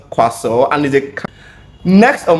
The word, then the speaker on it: croissant: So it is strange to think that you have a lot of letters there that are just useless. So the word is pronounced quaso and is a next on my list is this.